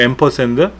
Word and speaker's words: ampersand: ampersand라고 읽어요. ampersand.